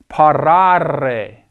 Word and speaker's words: parare: Parare, A-R-E, and that A there is a long vowel. It's a long A. It's pronounced parare. A-R-E in the infinitive indicates that a verb belongs to the first conjugation.